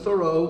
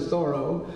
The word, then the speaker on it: Thoreau: Going back to Sunday, Henry David Thoreau, it wasn't Thoreau, he pronounced it Thoreau, died of the consumption at age 46 in 1862.